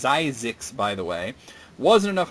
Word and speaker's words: Zyzzyx: If this film looks like a typo title, it's pronounced Zyzzyx, by the way, wasn't enough of a turn-off.